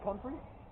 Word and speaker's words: comfrey: Comfrey?